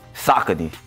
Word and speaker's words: Saucony: I like to call them Saucony. How we pronounce it? Saucony.